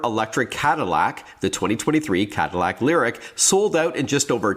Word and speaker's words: LYRIQ: the first ever electric cadillac the 2023 cadillac lyric sold out in just over 10 minutes last